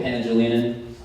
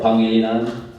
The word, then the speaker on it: Pangilinan: My name is Pangilinan, or Pangilinan, that's how you say it in Filipino.